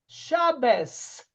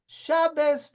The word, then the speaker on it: Shabbat: them you say good shabes shabas because the T at the end of Shabbat is actually pronounced as a s when it doesn't have a DOT are you with me